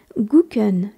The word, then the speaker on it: gucken: plus familier qui signifie aussi regarder comme Chen guken g u C k e n on sent